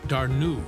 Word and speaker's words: Dana: She chose Dana and pronounced it Darnu.